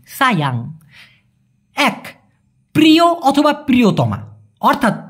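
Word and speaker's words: sayang: দেখুন সায়াং মূলত ভাইয়া সায়াং হবে না হ্যাঁ ওরা এই এস কে সবসময় স এর মত উচ্চারণ করে এজন্য হবে সায়াং সায়াং এক প্রিয় অথবা প্রিয়তমা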